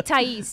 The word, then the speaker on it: Thais: So that's why it's going to be only Thais, T-A-I-S, with the accent on the I.